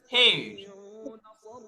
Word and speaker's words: heir: সেটা বলছে যে she is heir to the property. সেখানে এই যে এইস এর উচ্চারণটা হয় না আসলে, এখানে বেসিক্যালি এইট হয়।